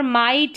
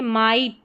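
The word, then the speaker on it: might: Next rule देखिए, जब किसी वर्ड में लॉन्ग साउंड वाउल के बाद GH या GST आए तो GH साइलेंट रहता है। लॉन्ग साउंड में, लॉन्ग वाउल का साउंड, जैसे यहाँ पर माइट है, ठीक है, माइट, तो यहाँ पर GH साइलेंट रहेगा, माइट, यहाँ पर GH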